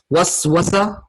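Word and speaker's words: وسوسة: Waswasa, you see how if I pronounce it correctly, how it sounds? Waswasa. Whisper. Whisper, right? Waswasa, whisper. Very similar sounding.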